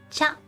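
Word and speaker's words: ちゃ: And then there's the big By combining the big chi and the small ya, the pronunciation turns from chi ya into cha. Cha. Like C-H-A in English, like cha.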